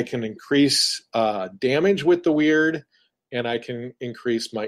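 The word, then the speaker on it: Wyrd: big ones is a skill called weird and it's spelled w y r-d and what that does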